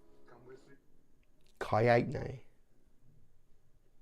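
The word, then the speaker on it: Kaetenay: My name is Kaitne. Come with me. Kaitne. Kaitne. Like how would you? Kaitne. That's how I'm actually going to say his name from now on. like the number 8 and nay.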